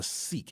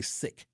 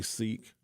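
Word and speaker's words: Sikh: a Muslim from a seik even though I'm pronouncing it wrong it's actually sick but when I say sick people won't necessarily equate that to the religion so I say Seek but a part of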